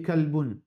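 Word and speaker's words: كلب: Par exemple, qalbun et kalbun. Ça veut dire, nous besoin qu'on prononce qalbun, c'est l'équerre. Kalbun, c'est des chiens.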